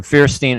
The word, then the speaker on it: Feierstein: to discuss the situation in yemen uh ambassador fearstein and i hope i'm pronouncing your last name correctly it's it's good